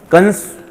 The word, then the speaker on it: कंस: कंस जो है, हम लोग हमारी भाषा में जो बोलचाल की भाषा है उसमें कंस कहते हैं, प्रोनाउंसिएशन उसका कम्स है वैसे।